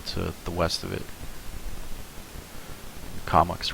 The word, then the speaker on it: Comox: Comox. Long O. The first O is long. The second O is short. Comox.